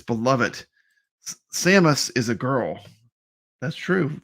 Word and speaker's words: Samus: Is it Samus or Seamus? Samus.